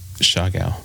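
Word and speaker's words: Siargao: It was Shagal. That's right. Perfect pronunciation.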